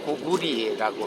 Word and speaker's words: 고구려: 고구려 연구 발표할 때 고구려는 일제시대 때 고구려라고 했지, 그전에는 원 발음은 고구리라고 합니다. 고구리. 근데 일본에서도 사실은 고쿠리라고 하거든요. 근데 자기들도 고쿠리라고 하는데 우리만 고구려라고 발음하게 만들었어요.